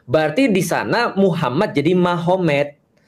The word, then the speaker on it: Magomed: Kalau kita tahu artinya berarti di sana Muhammad jadi Mahomet. Jadi tulisnya Magomed, tapi bacanya Mahomet.